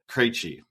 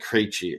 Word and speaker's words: Krejci: The hockey's most famous number 46 per the Hockey Writers article is David Krejci.